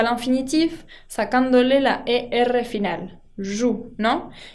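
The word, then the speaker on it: jouent: Il joue con ENT que no se pronuncia au rugby dans un club.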